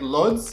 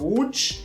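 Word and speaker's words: Łódź: met Marta in W Poland has a city called like LS but the Polish call it wood yeah the pronunciation of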